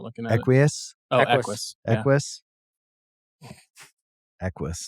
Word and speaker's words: Equus: How do you pronounce that? Not looking at Equus?